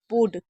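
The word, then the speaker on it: would: King that he वुड। इसको built नहीं पढ़ना है। जैसे आप देख रहे हैं मैंने लिख भी रखा है। इसको वुड पढ़ना है।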